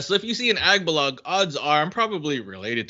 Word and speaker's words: Agbalog: But some like pronounce it as Aguilar or Abalog. Like they would miss some letters in in the last name, and like you got it right the first time.